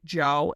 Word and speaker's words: Djo: It's pronounced Joe and I have it on my car.